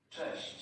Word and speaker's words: Cześć: Cześć.